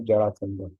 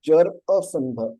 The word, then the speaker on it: जरासंध: इधर शिवा लिखा है ना, इधर देखो इधर करके, तो जरासंध, तो it is not Jarasandh, it is Jarasandha.